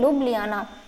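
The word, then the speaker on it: Ljubljana: तो देखिए थोड़ा काफ़ी अजीब इसकी स्पेलिंग है, इसका प्रोनाउंसिएशन है लुब्लियाना।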